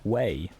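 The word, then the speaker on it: Huế: take care of yourself pronounced like way oh okay I see way it's not H way way way than you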